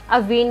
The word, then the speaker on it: Awign: तो ये कंपनी जिसका नाम है अवीन, AWIGN, आप इसको प्रोनाउंस करेंगे अवीन नेम से।